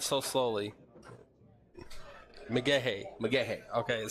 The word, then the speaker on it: McGaha: I have asked Nate, and it is Mcgaha. Okay. But not so slowly. Mcgaha.